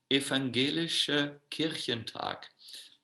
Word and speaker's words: Evangelische Kirchentag: the Christians during the Evangelische Kirchentag, that's how you pronounce it in German, were extremely impressed by Maharaj's presentation.